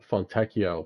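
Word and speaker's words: Fontecchio: Fontechio, that's how you say it. I was like, what? I knew I remembered his pronunciation, but yeah, it didn't come back to me until just now.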